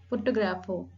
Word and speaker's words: photographer: Now come to the second word, photographer. Photographer. So here the primary accent is on the second syllable, photographer, grapher, the second syllable.